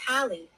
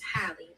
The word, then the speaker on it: Hallie: It's literally just Hallie. Oh. It's simple. It's easy. It's Hallie.